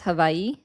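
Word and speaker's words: Hawaiʻi: normally pronounce it as havi with like a V instead of a W?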